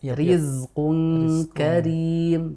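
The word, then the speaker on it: رزق كريم: rizqun Riz Ri Ri jadi kita tidak baca dengan rizqun Karim enggak gitu Oh iya iya kita baca tipis saja karena memang ini rnya kasrah dan dibacanya dengan tarqik atau tipis rizqu Karim begitu nah itu contoh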